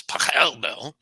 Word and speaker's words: Pachelbel: Paschal Bell's Canon in D, or in German it's Pachelbel, um, is his favorite song.